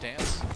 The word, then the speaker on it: DNCE: DNCE, we're told it's pronounced Dance.